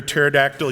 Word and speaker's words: pterodactyl: vocabulary a thesaurus or why can't you hear a pterodactyl using the bathroom the pee is silent so thanks again everyone